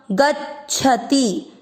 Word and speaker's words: गच्छति: ग के साथ आधा च। गच्छ। छ पूरा गच्छति। च और छ का उच्चारण थोड़ा डिफरेंट होना चाहिए। गच्छति।